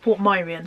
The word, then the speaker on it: Portmeirion: Yeah, Portmeirion. Lex says it's pronounced Portmeirion, so I do apologise if you live there and I've been mispronouncing it.